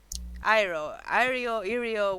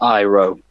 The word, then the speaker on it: Irio: Irio, whatever. I don't know how to pronounce it. Like, Iro. well, it's In not character, Iro, it's Irio. That's how it's written, that's how I pronounce it, so fuck it.